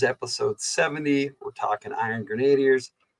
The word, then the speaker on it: Grenadier: Grenadier is how they say they pronounce it now. Now, growing up, I never pronounced it that way. I always pronounced it Iron Grenadier because it's based off the word grenade, right? So why would you don't say grenade? So why would you say grenadier?